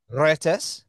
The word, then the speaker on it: Retas: debut album R Reus is that how you pronounce it how do you sorry Rus is that yeah that's perfect okay because if